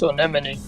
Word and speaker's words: Anemone: I know it's not one mind. I know it's Anemone.